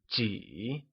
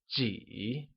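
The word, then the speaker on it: 几: How many or a few translates to ji, which is said using a falling, rising tone.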